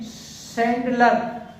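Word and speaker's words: chandelier: इसके बाद देखें, इसको पढ़ते हैं सैंडलर, सैंडलर, तो देखिए ये भी CH को स पढ़ा जा रहा है।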